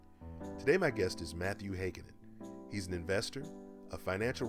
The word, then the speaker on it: Heikkinen: That's Heikkinen, for those of you who don't know how to pronounce the name.